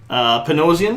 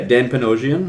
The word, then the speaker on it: Dan Panosian: Panosian? Yeah, Dan Panosian is how I would pronounce it anyway.